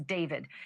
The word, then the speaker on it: D4vd: Literally, for the singer known professionally as David, spelled D4 VD. I know it's strange, but it's pronounced date.